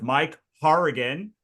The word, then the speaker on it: Hourigan: I'm usually the one who has the the name that no one can pronounce, but like we're going to say we're here with Mike Harrigan uh from Written Word Media.